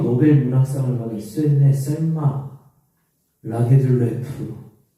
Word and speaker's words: 라게를레프: 여성 최초로 노벨 문학상을 받은 스웨덴의 셀마 라게를레프, 발음이 좀 어려워요.